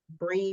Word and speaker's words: Bri: That is my podcast name, podcast Instagram, and you can find me at Bree BR, I think two eyes dot like the cheese, Bree like the cheese.